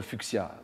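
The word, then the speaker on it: fuchsia: botaniste allemand le fucia alors on prononce beaucoup le fuchia bien sûr le fuchia il paraît que ça se dit vraiment le fucia comme si c'était un X j'en ai un chez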